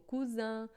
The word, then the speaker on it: cousin: som de S, e se tiver entre duas vogais, a gente faz som de Z, como cousin, vase, né?